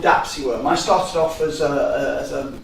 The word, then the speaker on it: DAPSI(W)R(M): the referees usually say, that's a horrible acronym, how do you pronounce it? So now we have to tell them in every paper we use the term DAP SeaWorld.